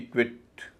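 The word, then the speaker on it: quit: क्यू यू आई टी क्विट क्यू से क यू से व आई से ई टी से ट क्विट इसी तरह क्विक क्यू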